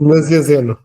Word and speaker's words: Nazianzeno: Como é que é a pronúncia, Padre Ricardo? Me ajuda. Nazianzen. Nazianzeno.